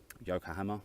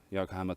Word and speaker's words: Yokohama: Yokohama, I believe you pronounce it.